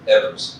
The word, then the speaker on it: Evers: We had President Biden in the state, and he was in Superior, Wisconsin with Senator Baldwin and Governor Evers, or Evers, as he likes to pronounce it.